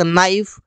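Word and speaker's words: knife: को वो करेक्ट करेंगे के के बाद एन आता है जैसे देखिए यहां पर night not नी no knock नाइफ कहीं पर भी के को नहीं बोला गया कहीं पर भी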